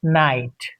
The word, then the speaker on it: knight: Knife and night. Knowledge. Knife. Knight. K is silent in combination of KN in the beginning of a word.